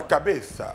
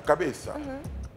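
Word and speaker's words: cabeza: têta la CABA la cabesa faut dire faut prononcer la dernière lettre le Z se lit la langue entre les dents en espagnol la cabéa mais qu'est-ce qui s'est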